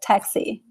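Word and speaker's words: táxi: It can sound like an SH, like KS, like also like taxi. Taxi, okay, you have like the KS sound.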